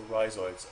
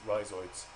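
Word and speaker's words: rhizoids: Um, let me just spell that for you. So, risoids. R H I Z O I Ds. That's risoids.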